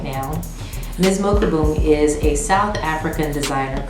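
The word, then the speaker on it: Palesa Mokubung: really research in order to be able to pronounce my last designer's name her name is palisa mokubung and i am wearing a piece of hers right now miss mokabung is a south african designer currently based in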